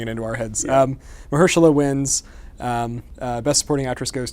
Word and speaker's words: Mahershala: A lot of like retribution happens in the way that like Mahershala Ali, and I pronounced his name wrong 3 times already now. Mahershala. Mahershala? That's it. Mahershala Ali.